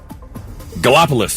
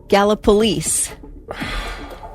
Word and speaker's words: Gallipolis: Gallipolis. I knew it. Nope, it's Gallipolis. Then Police. You'd think. Make it easy. Now, some people will say Gallipolis, but I do think locals call it Gallipolis.